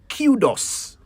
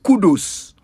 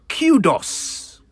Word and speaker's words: kudos: know you heard me I said cudos KU D oos cudos yes I'm afraid you have been saying it wrong all this time it is not kudus it is Kudos originally the word Kudos